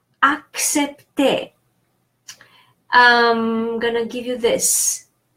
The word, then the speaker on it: accepter: Ac, so the first C is K because it's followed by the second C. The second C is pronounced S because it's followed by E. So CE is pronounced se or se. So that second C is pronounced S. The first one is K because is followed by a consonant. P, T, and the final ER is pronounced E because final ER and EZ, that's another rule, are pronounced E.